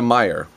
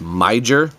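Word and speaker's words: Meijer: next door is a Meyer. And I realized after doing some of these reviews that not everybody has a Meyer, and it's spelled M-E-I-J-E-R, so it looks like you should say it as Miger, and it is like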